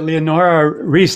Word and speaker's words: Leonora Risse: hi welcome back i'm here with leonora reese i didn't is that the proper pronunciation yes thank you yes please yeah and